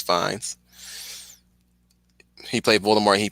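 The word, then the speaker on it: Fiennes: for uh president Shinra Ray fines is that how you pronounce his name or fi or I think it's fines he played Voldemort and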